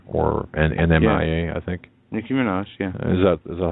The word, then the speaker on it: Nicki Minaj: Nicki Minaj. Yeah. Is that is that how you pronounce that name?